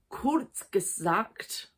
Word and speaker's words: Kurzgesagt: and I'm going to read it out so I pronounce it correctly, Kurzgesagt, putting my GCSE German to good use, in a nutshell.